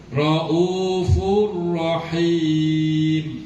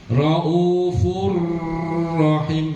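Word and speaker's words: رءوف رحيم: Getaran ro jangan lebih dari tiga getaran. Kok Bapak tambahin malah salah rafurah rahim. Kebanyakan, Pak, itu getaran kebanyakan. Cukup dua, maksimal tiga. Rau fur fur jangan fur malah salah raufurrahim.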